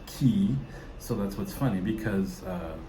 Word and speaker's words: Cay: Yes, C-A-Y is pronounced Key.